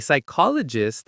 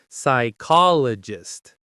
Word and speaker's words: psychologist: A psychologist has an advanced degree in psychology and often specializes in different types of therapy. Psychologist. Psychologist. Notice the silent P at the beginning.